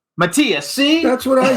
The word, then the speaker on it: Matthias: How do we pronounce it correctly? It's Matthias. Matthias, see?